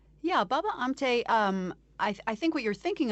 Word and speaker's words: Baba Amte: So tell us about Baba Amta, if I'm saying it correctly. Yeah, Baba Amte, I think what you're thinking of, why he